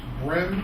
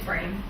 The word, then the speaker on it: Brame: At this time, we have Miss Brem. I hope I'm pronouncing that right. It's Brame. Brame.